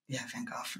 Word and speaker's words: Van Gogh: Van Gogh, man. Is that how you say it? I don't know. Yeah? That's how you said it. The British people said it that way.